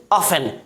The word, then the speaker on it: often: OFTEN, क्या पढ़ेंगे, ऑफन, ना कि ऑफ्टन, क्या पढ़ेंगे, ऑफन।